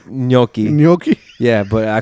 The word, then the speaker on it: gnocchi: And then Christina got some ganaki, bro. That ganaki. You mean? I don't think that's how you say that. I know that's not how you say it. Isn't it nochi? It's gnocchi.